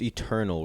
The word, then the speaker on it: ETERNVL: since cool uh let's touch on uh it's Eternal right that's how you pronounce it I just want to make sure